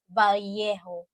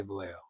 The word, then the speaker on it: Vallejo: In fact, in Philippine accent, we pronounce that as Vallejo. We just say Vallejo. Vallejo. But thanks, though. Yeah. Right. Double L is Y.